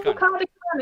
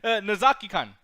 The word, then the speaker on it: Nozaki-kun: Hey, no Nakami-kan in there whatsoever. That is no. You spell it out right there. It's right there. I'm sorry. Nozaki-kun.